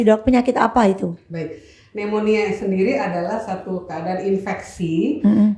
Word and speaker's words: pneumonia: dengar banget istilah itu kalau enggak salah tulisannya itu ada huruf p-nya di depan ya do pneumonia Tapi bacanya enggak pakai p ya Dok yaonia pneumonia sahabat